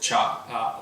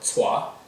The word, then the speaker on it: Tsai: same as mine, and that's how they pronounce it, cha or tsua.